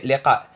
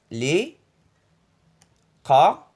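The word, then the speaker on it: لقاء: C'est liqa. Liqa, c'est en arabe littéraire. Li, qa, e. Le 2 ça se prononce e.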